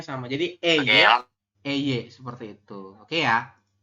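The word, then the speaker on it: ㅐ: Ini yang atas itu AE, tulisannya AE, dibacanya tetap E, teman-teman.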